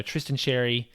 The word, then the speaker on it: Tristan Xerri: I am trying to make sure that I pronounce his name correctly with the sound. So Tristan Xerri.